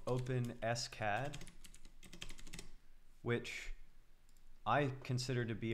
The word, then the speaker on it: OpenSCAD: 3d model in fact i have openscad here openscad is the correct way to say it and